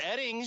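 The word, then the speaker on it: Oetting: hold on it's pronounced eding but it's spelled o e TT n g yes and o e TT iing it's pronounced eding okay so it's like the O is silent o e TT iing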